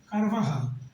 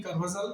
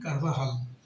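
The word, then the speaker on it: Carvajal: Real মাদ্রিদের একটা player ছিল নাম হচ্ছে দানি কারভাহাল সে হচ্ছে স্প্যানিশ প্লেয়ার এই যে জে এল কারভাজাল অনেকে বলে দানি কারভাজাল বা কারবাজে বা ভেজাল তো ভেজাল না আসলে তার উচ্চারণটা হচ্ছে দানি কারভাহাল তো স্প্যানিশ হওয়ার কারণে এই উচ্চারণটা যে এর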